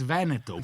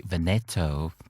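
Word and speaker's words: Veneto: So British will say vento and Americans say venetto. Venetto. That is a blasphemy.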